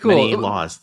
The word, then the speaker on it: Menelaws: is it Mena laws am I pronouncing that right that's right that's right yep many laws there's many laws in this country that's why I like